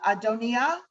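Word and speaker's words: Adonijah: um uh adonia i the the j uh trips people up all the time most of us would pronounce us at amnesia but the j like is a german j it's a y sound so adonia uh and which means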